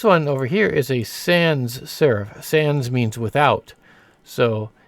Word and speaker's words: sans serif: over here is a Sans serif Sans means without so it's Sans serif that's not proper French pronunciation but that's the way we usually pronounce it in English now there are some